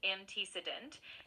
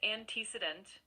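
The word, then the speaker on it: antecedent: That word is pronounced anticedent.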